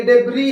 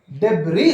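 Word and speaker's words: debris: आर आई एस डेबी इसमें S silent है अगर से कोई नया स्टूडेंट रहा नया लर्नर रहा इसको प्रोड्यूस करो साउंड इसका ओके फलाना वर्ड पढ़ो बोले तो how will he pronounce the word डेब बोलता य पर एस साइलेंट है डेबी बोलना चाहिए एक्चुअली पर डेब बोलता क्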